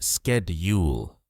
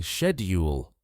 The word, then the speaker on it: schedule: In American English, it's pronounced schedule in British English. Many people say shedule. Both are correct.